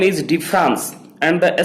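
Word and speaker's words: différance: Its name is difference and the spelling is D-I-F-F-E-R-A-N-C-E, difference.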